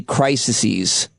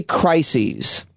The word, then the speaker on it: crises: it it is titled so many crisises is that I pronounce that right crises c r i SS so many crises and you focus on